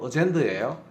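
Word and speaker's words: agenda: 이거의 복수형이 어젠다에 우리가 아젠다 아젠다란 아주 많이 하잖아요 그게 바로 요거예요 발음은 정확히 하면 어젠더예요 예정표 안건 의사 일정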